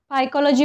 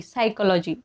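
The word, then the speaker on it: psychology: पी हे silent आहे आपण पायकॉलॉजी म्हणतो का पायकॉलॉजी म्हणतो का नाही सायकॉलॉजी आता इथे बघा पिमोनिया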